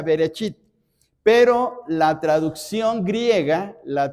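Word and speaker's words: בראשית: Por ejemplo, vean ustedes ahí en sus Biblias, Génesis 1:1 dice, "En el principio y en hebreo se pronuncia berechit, pero la traducción griega, la traducción que más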